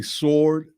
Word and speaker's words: sword: I don't know, Noir DOS, I think, said, it irks me when people pronounce the W in sword. It's silent. Shh. So I guess I was supposed to say sword.